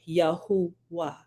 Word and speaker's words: Yahuwah: of being v v it should be a you you because they didn't have O's right but the U makes the ooh sound so you gotta study just a little bit just a little like surface research will actually uncover that right and the the improper pronouncing improper pronunciation yeah they would be correctly uh rendered and it would be yahuwah right so I got